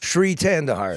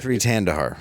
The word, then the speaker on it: Shri Thanedar: I always forget how to pronounce his name. It's Shri Thanedar. Shri Thanedar.